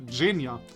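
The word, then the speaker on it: Zhenya: letter for name again it's not pronounced zegna I learned that as well what was it again which letter j wasn't it ginia must remember I'm sure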